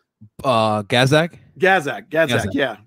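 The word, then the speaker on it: Gazdag: very good chance probably through uh is it bozak the guy in the midfield um how do you pronounce his name uh gazzak gazzak yeah gadzak yeah i've that guy looks to me like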